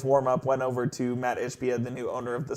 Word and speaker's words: Ishbia: Ishbia. Ishbia.